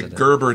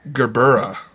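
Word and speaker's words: gerbera: were making fun of people say gerber daisy it's gbera Daisy does that drive you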